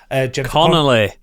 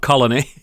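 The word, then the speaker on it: Connelly: means Jennifer Colony what's how do you say her name con Conelly Conelly not Colony yeah that's that's the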